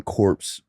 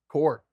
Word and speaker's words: corps: at his edition word the p and the s are silent core wait but when you say marine corps is spelled like that it's not never corpse corpse incorporated incorporated yes but corpse with an e is like a dead body yeah but this one it's just core odd word no worries go